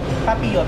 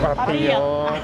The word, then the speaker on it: papillon: Papillon po. Papillon. Sa French term po.